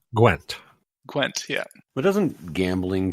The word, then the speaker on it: Gwent: It's pronounced Gwent.